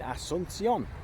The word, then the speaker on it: Asunción: Um, but yeah, here we are in Park New Guazu in Asunion.